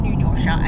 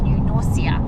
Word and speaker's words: New Norcia: It's not New Norsha. It's New Noria because we have YouTubed